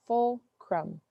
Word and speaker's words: fulcrum: stick and a fulcrum this is how you pronounce fulcrum full crumb the fulcrum is the